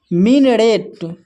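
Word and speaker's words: minaret: यहां पर देखिए एम आई का उच्चारण मी कर रहे हैं और एन ए का उच्चारण न कर रहे हैं और आर ई का उच्चारण रे कर रहे हैं। टी का उच्चारण ट। अगर इन सभी को हम मिला दें तो हो जाता है मिनरेट।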